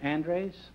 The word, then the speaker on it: Andres: Oh, and you're Brad Andres? That's right. Is that the way you pronounce it? Andres, yes.